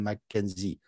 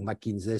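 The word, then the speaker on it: McKinsey: de cabinet de conseils comme McKenzie ou mckinzey selon qu'on le produit qu'on le prononce en français ou en anglais et donc en quoi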